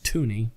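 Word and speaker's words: toonie: So the $2 is toony because it rhymes with loony, apparently.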